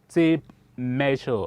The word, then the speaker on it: tape measure: one is tape measure say that tip measure i know some call it step rule i think the the correct way to say that or to pronounce that should be tip measure we use it to